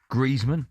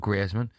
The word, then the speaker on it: Griezmann: Right, let's move on to someone who everyone gets his name wrong. It's Griezmann, not Griezmann.